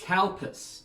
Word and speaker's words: Calpis: Be very careful when pronouncing this. It is Calpis.